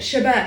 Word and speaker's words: Chabot: Chabot. It's spelled Chabot.